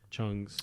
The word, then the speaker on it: Chung: with with blitz chugs Chung's you pronounced Chuck that time it's I got it